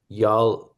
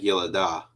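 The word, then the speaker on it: יָלְדָה: You make the Shiva vocal because the comment says a long A class vowel. All right. So So the lamed ends up being its own syllable. is it Yalada? What? Yeah, closer. It's more like Yelada.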